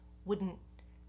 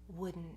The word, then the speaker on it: wouldn't: So you hear that cutting off of the air in the throat, wouldn't. That's where the T comes in.